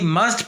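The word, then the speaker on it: mustn't: ऐसे ही मस्ट plus not में मस्ट का जो टी है वो साइलेंट हो जाएगा, मसंट।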